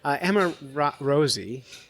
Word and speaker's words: Emma Rosi: Emma Rosie, did I say it right?